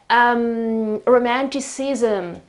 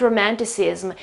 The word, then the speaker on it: romanticism: Romanticism, modernism. It's not romanticism, it's romanticism. So this zm here makes all the difference in the world.